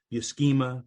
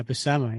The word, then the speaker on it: Buscema: BMA brothers too because they all say bema bemma but it's not a hard C in that in that name so yeah BMA yeah yeah so let's